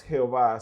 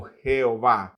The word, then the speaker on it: Jehová: Sin embargo, recordemos que la primera letra hebrea del nombre de Dios es y dicha letra suena más como y que como J.